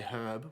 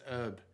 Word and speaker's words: herb: like like we say herb we actually pronounce the h but then some Americans I'd say it says herb so would you say